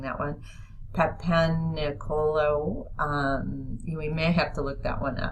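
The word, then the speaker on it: Papanicolaou: Papaniculau is how you say it.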